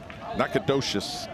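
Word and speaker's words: Nacogdoches: Nakadocious, Texas.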